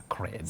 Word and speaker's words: sacred: That letter A takes its name as the sound, and then the E takes the sound E. So you say sacred heart, not sacred heart.